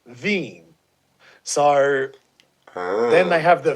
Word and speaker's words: Wien: the name of places Vienna is actually w-i-e-n pronounced veeam sorry then they have the Venus schnitzel but